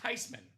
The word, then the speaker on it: Theismann: It's actually pronounced Theismann. It's a German name.